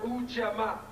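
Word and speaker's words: Ujamaa: Ujama. We have this. It's pronounced Ujama.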